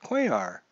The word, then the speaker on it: Cuellar: we are from Cuellar see now I know how to say it Cuellar why didn't somebody just tell me it was Cuellar oh you guys are